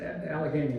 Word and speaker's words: Allegheny: Old Allegheny, did I pronounce that right? It's Allegheny, not Guinea.